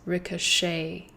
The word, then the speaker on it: ricochet: a little bit different it's also the reason why we don't pronounce the T at the end this word is pronounced as ricochet as if the ending is a y a likes a ricochet the second lesson is